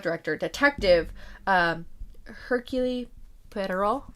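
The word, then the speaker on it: Poirot: Um, our director or not director, detective, um, Hercule Pero, I think is how you say it, uh, is played by Kenneth Brana aka the director.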